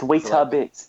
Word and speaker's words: Weetabix: It's Weetabix in England. Like Why? terrible. Like it's I know, it's an extra syllable.